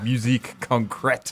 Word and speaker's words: musique concrète: in the middle to compressed concrete so yeah musique concrète yeah I mean if you're gonna try to